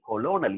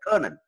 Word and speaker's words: colonel: பாருங்க, நான் சொன்னேன் இல்லையா, COLONEL கொலோனல் இல்ல, கர்னல்.